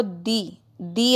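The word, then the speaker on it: the: दी एंड तो इसको दिए बोलते हैं 2 एंड नहीं बोलते हैं अपने ओके भाई है जैसे अर्थ से पहले अगर लिखा हुआ है तो उसको दिदी अर्थ बोलेंगे द अर्थ नहीं बोलेंगे ओके स्पेलिंग सेम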